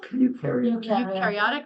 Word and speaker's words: eukaryotic: Do the experiments include propagation of recombinant how do I pronounce it? Eukaryotic? Eukaryotic, thank you, viruses?